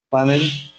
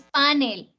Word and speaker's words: panel: Panel. Panel, ¿cierto? ¿Y cómo es? Miren. Es aguda. Entonces no es panel, sino Panel.